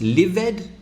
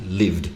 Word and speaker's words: lived: that's right it's cold now is this livid or lived exactly lived no extra sound what